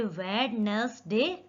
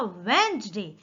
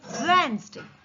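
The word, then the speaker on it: Wednesday: वेडनेसडे, पर ये वेडनेसडे नहीं है, इसको पढ़ा जाएगा वेंसडे। डी जो है उसका साउंड बिल्कुल भी हमें लेना नहीं है, इसको प्रोनाउंस कैसे करना है? वेंसडे।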